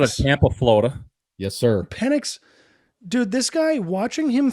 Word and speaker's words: Penix: Pelix? Michael Penix Jr. Yeah, Penix? Straight out of Tampa, Florida. Yes, sir. Penix.